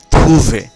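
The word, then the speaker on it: trouver: এরপরের শব্দটি থুভে। থুভে, এখানেও ওয়েখ আছে, এর উচ্চারণ এ, থুভে।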